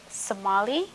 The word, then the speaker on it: Somolly: Well, my full name is Somali. It's spelled S O M O L L Y and then T A Y L O R.